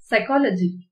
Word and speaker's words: psychology: sun glass rose psychology இதுல p வந்து silent letter psychology city face scene இதுல